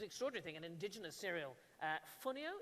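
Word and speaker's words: fonio: Funio, is that how it's pronounced? Yes, please. Funio.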